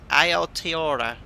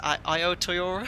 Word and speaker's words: Aotearoa: And again, I'm not too sure how to pronounce this. I think it's Aotearoa. I think I watched I played a pronunciation of this. Aotearoa.